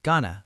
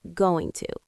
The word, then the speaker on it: going to: People often say Ghana, but you do not need to copy that to be natural. You can speak clearly going to.